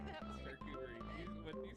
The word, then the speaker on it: charcuterie: Pick some up for your next charcuterie plate. Charcuterie. I don't know how to say that word. Charcuterie. What did you say? Charcuterie. Did you say shark coochie?